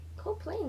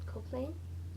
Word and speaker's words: Koepplin: Koepplin, that's how you pronounce it. Koepplin.